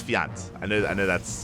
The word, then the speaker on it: Fjant: always or vajans what I know it's fiance I know I know that's how you pronounce it from my understanding my understanding just